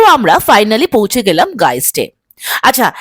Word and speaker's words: Geist: আমরা ফাইনালি পৌঁছে গেলাম গাইস্টে আচ্ছা এতক্ষণ আমি ভুল প্রোনাউন্স করছিলাম এস জিস্ট বাট এখানে সেটা জানতে পারলাম যে it's pronounce guys sorry for that আচ্ছা এটা একটা পেট ফ্রেন্ডলি ক্যাফে কাম ব্রিউরিং।